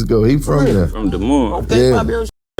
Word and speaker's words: Des Moines: Des Moines, Iowa.